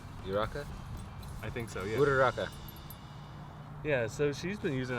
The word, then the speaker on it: Uraraka: Because everyone, like, especially like in the last episode, I don't know how to pronounce her name. Uraka champ? Uraka? I think so. Yeah. Uraraka.